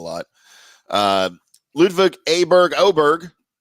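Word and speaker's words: Åberg: lud Aber Berg oberg now you've got me confused on how I should say his name I know they say oberg on TV but with the letter starting with a it's just hard for me to do that with my my little brain um he's playing Valero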